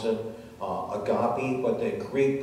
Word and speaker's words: agape: with short transliteration which looks like the word a gape and many people pronounce it uh agape but the greek pronunciation is agape and it